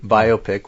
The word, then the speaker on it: biopic: You you use the word uh biopic, which is the correct pronunciation.